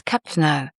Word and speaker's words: cappuccino: Cappuccino is cap-chee-no. And Americano is ah-mer-i-cah-no. But honestly, even if your pronunciation isn't perfect, the context helps a lot.